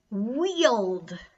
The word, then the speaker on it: wield: Wield. Wield's kind of a cool word. Rhymes with yield.